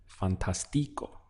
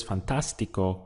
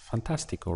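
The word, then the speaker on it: fantástico: the pronunciation would be fantastico right with the accent here so because it's fantastical we need an accent over the a to indicate that the stress point is there so it would have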